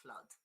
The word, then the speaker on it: flood: There are only two words with a double O which are pronounced. I haven't got the symbol, but anyway, I put like this. I'll pronounce R. Okay, one is blood and the other one is flood. There are the only two.